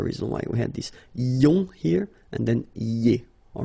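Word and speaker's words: -ions: So now let's see nous, and nous goes like I-O-N-S, okay, and it should be pronounced ion. Remember, final S is not pronounced.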